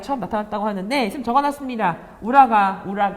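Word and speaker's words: 浦賀: 우라가 발음이 되는데 현재 도쿄에 해당하는 지역이라고 합니다.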